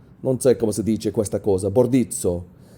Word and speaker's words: Bordizzo: Bordizzo. I want to say that's how you pronounce it, in Italian at least.